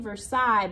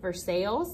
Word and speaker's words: Versailles: the words here that I'm saying Versailles but it looks like Versailles like we say North Versailles they are spelled the same way but they are said differently in different parts of the world what a cob has